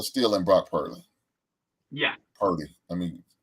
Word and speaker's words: Purdy: Purdy. Let me pronounce his name right.